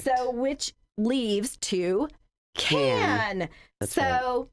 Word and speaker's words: Cannes: So an S is rarely pronounced in French when it's the last letter in a word. That's correct. So which leaves to can.